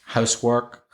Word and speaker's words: housework: So when you have a compound noun like housework, football, software, whiteboard, goalkeeper, the stress usually comes on the first syllable.